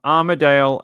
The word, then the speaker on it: Armadale: Um, Armaddale as in Melbourne. Armaddale. So, there is a suburb in the inner city, not too far from South Yara, actually, which is it's spelled differently. It's spelled a uh a R M A D A L E. Armadale. It's got a it's got an extra A in it as where the